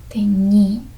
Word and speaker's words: teñí: So if this tilde wasn't there in this word, teñí, if we eliminated that, then that word could probably be pronounced teñi, with more emphasis here automatically because it's a shorter word. Oftentimes, the emphasis will be placed on the syllable that is closest to the first letter, if it's like a shorter word. Teñi. Do you notice the difference?